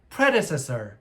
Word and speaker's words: predecessor: 발음 주의하세요. 강세 앞에 있습니다. predecessor.